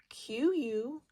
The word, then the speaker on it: quail: Q-U-A-I-L, quail. Q and U always are together. They have a qu sound.